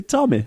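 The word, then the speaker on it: Tame: to me yeah bro Jack Tommy yeah Tommy that's how you pronounce it I've never heard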